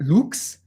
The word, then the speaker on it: lux: best word in latin light looks luke's is literally light say et lux at lux per now a quick